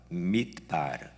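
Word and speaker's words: מדבר: 말은 히브리어로 다바르인데 광야는 히브리어로 mid바르입니다. 그러니까 밑자만 빼버리면 거의 비슷한 발음입니다. 다바르, mid바르.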